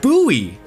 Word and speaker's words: Bowie: There is uh Bowie Maryland, which I personally would think is pronounced like David Bo Bowie, but it's instead instead pronounced buoy like the knife.